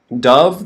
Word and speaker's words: dove: okay here we have dove the bird the white bird and then we have dove the past tense of of dive okay so just listen to the different pronunciation dove dove okay all right here